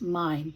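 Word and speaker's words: Mein: M E I N Street in German pronounced mine but anyway it's here they call it Main Street.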